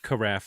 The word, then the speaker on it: carafe: what's the probability of carafe like giraffe yeah man face sounds